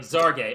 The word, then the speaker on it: Xargay: I was looking up how to pronounce Breanna Stewart's wife's last name, because it's Xargay. I was like, it's Spanish. Is it a Z or is it a H? That feels very much to me like the Elon Musk Grimes child's name. But so I'm looking it up. I'm like, okay, WNBA did put out a press release with the pronunciation ZAR-GAY.